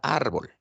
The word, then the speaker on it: árbol: Lo mismo ocurre con la palabra árbol. Árbol, ¿no? Está terminando en L. Su mayor fuerza de voz está en la penúltima sílaba, ¿no? Ar. Por eso lleva tilde. Perfecto.